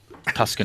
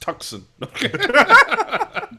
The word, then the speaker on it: Tucson: Tuscan Roadrunners. It's pronounced Tucson.